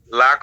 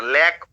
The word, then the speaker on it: lack: লাক অফ না, ল্যাক অফ, ল্যাক উচ্চারণ হলো ল্যাক, ল্যাক অফ, ল্যাক অফ কি লিখছেন?